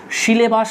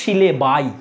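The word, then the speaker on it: syllabi: সিলেবাই। তাহলে এই আসটাকে আসের বদলে আই লিখে দাও। আর আই উচ্চারণ করবে। সিলেবি উচ্চারণ করো না। সিলেবাই এটাই উচিত করা।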